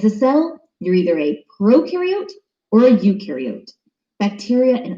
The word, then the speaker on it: prokaryote: is a big deal prokaryote the pro rhymes with node and they have no